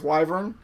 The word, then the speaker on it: Wyvern: I was growing up, not knowing that it was Wyvern. I guess I should probably look at letters in the order that they're in and make sure that I pronounce them correctly.